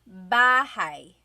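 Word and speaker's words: bahay: Bahai. Bahai. You might notice that the spelling is a y at the end. So it looks like bahi, but it's pronounced bahi. That a y combination is bahai.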